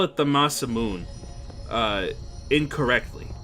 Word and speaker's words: Masamune: who they're like well actually it's masamune like with the with like a really pronounced nay at the end that's not re that's not how you say it either it's it's really more like masamune like but not with as much of an a sound as i put at the end there either so we're gonna have